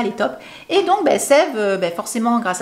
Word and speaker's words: Saeve: Ça se prononce Sève et pas Saève.